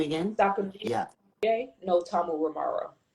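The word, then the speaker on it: Tamuramaro: no Tamu Ramaro.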